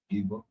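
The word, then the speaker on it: Gibeah: Is that how you pronounce it? Gibba.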